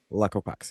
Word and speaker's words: Alaqua Cox: It's Alaqua Cox? Yeah. Alaqua Cox, yeah.